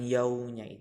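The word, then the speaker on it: يَوْمِ: seperti ini Melik yaumiddin untuk mengucapkan yaumi itu bibirnya agak di manyun kan ke depan karena disitu ada Wow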